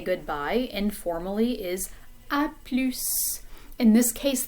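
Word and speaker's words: à plus: say goodbye informally is a plus in this case the s is pronounced at the end of this word um sometimes s is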